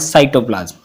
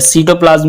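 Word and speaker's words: cytoplasm: Jelly like substance called साइटोप्लाज्म, या सीटोप्लाज्म भी पढ़ते हैं इसको, प्रोनाउंसिएशन सबकी अलग हो सकती है। तो सीटोप्लाज्म बोल सकते हो या साइटोप्लाज्म हो गया।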